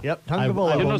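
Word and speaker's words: Tagovailoa: My goal before next season is to be able to pronounce the Alabama quarterback's last name. Tua is all I call him. Tungavaloa. Tungavaloa. Yep, Tungavaloa.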